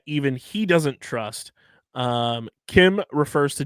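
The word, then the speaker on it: Kh'ymm: to meet his friend named Kim which is not spelled the way you would think it's spelled Harrison it's spelled KH apostrophe ymm yeah that that's some Star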